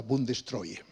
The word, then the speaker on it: Bundestreue: Bueno, entonces me atrevo a decir que se pronuncia más o menos como la Bundestreue.